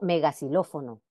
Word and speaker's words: megaxilófono: Otro caso similar sucede cuando se antepone un prefijo o una palabra que comienza por X. Esta letra conserva la pronunciación como S, aunque no esté situada al principio. Por ejemplo, antisenófobo, xenófobo, ¿ok? O megaxilófono. En posición final de sílaba,